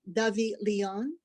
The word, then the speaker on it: DoveLion: the title's correct pronunciation it's a more phonetic davi leon versus the combination of dove and lion that spell it out um rand marie melvin